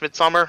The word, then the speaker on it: Midsomer: It's Midsomer. It's pronounced Midsummer.